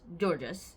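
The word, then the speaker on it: Georges: good guy in fact his father uh georgees georgees yes that's how you say his name georgees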